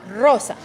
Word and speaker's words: Rosa: and so for example in Spanish we have this very hard are like the word the name Rose is pronounced Rosa okay and so if I